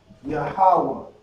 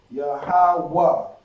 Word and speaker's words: Yahweh: Because the connector makes the A, you drop the A when you have it connected. Alright? So Yah-ha-wah, Yahweh, Yahweh. Alright? The Wah and the Ha become one pronunciation.